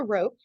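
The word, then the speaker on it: rho: I know it'll be useful um this is pronounced the rope and it is a correlation strength between two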